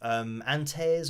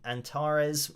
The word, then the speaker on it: Antares: So that pitch correction plugin is called Melodyne, and then you have Antares or Antares. I've heard it pronounced different ways by different people, but that's live auto-tune, which is automatic.